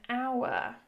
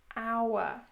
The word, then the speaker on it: hour: Because in these words, the H is silent, meaning it is as if we are just saying the O, honourable, hour.